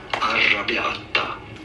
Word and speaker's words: Arrabbiata: So, for reference, in Italy, this is said as Arrabbiata. Arrabbiata. Okay. It's called Arrabbiata. So, it's a combination of pesto, Arrabbiata, and Alfredo sauce, and